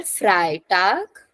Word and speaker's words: Freitag: Der Freitag. So Fry is similar, yeah. Friday ka Fry and this Freitag.